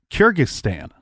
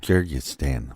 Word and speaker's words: Kyrgyzstan: So he got a wife named Larissa from Kyrgyzstan. Don't make me say that again because I said it wrong the first time. Kyrgyzstan.